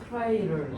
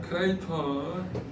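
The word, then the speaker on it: crater: 크라이를. 이따구로 발음할 줄 알았어. 자, 크레이터.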